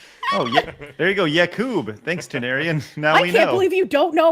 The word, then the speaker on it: Yakub: It's pronounced like like you'd think. It's y a k u b.